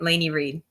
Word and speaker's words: Lainey Reid: You said it right, Lainey Reid.